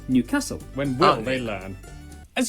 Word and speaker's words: Newcastle: before finishing up in an Newcastle or as the people from the city itself say Newcastle when will they learn